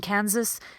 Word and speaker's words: Kansas: as you're presenting this practice turning the S into a Z in Kansas and really practice syllable